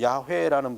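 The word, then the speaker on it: 야훼: 자 여기 이게 여호와 원래는이 야회라는 발음인데 그런데 어 이제 이거를 사람들이 필사할 때 이걸 그대로 쓰지 못한 거예요.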